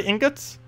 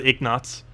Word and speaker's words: ingot: I'm pretty sure I'm going with ignots. Ignots? I-N-G-N-U-T-S, right? Ignots. Ignots. Like a gold ingot? Ingot. So ingots, right? It's pronounced ingots.